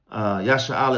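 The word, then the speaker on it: ישראל: Yasha'Allah is how you say Israel in the Hebrew, in the Paleo-Hebrew, Yasha'Allah, which is he, prince in power.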